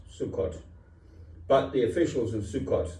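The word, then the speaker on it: Succoth: the king of midian i think it's pronounced sukkot but the officials in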